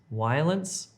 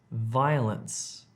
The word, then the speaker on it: violence: Violence, violence.